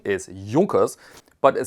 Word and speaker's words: Junkers: the United States, because people thought it's called Junkers, but the correct pronunciation is Junkers.